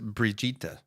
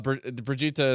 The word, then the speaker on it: Brigitte: tree and by the way her name is pronounced Bri cheetah I thought he was weird but he really